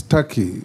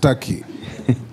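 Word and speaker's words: Türkiye: It is not called Turkey, it's Turkey. It's only written Turkey, but it's pronounced Turkey.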